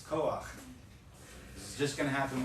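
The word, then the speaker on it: כֹּחַ: When the last letter of a word is a chet, and the vowel underneath it is a patah, the combination is pronounced ach, not ha.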